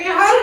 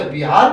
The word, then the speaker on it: बिहार: मैं इहार गया था। कहाँ गए थे? इहार। ये इहार कौन सी जगह है? इहार। अच्छा, बिहार गए थे।